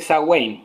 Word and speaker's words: Samhain: de, como tú dijiste, Samhain. Se escribe Ya. Samhain, pero hasta donde tengo entendido en gaélico se dice Samhain, que es uno de los idiomas más extraños que conozco en cuanto a escritura.